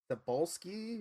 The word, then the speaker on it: Cebulski: It's the first two initials are CB, and then it's like Cebulski, Cebulski.